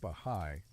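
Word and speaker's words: Bahá'í: Bahai faith the bahigh faith pronounced bahigh emerged in 19th century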